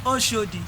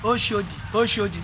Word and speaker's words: Oshodi: conductor in lagos and you are calling oshodi oh shoji no no no no no you are getting it wrong oh oh that's the defined way of pronouncing uh sorry pronouncing it in lagos state you have you know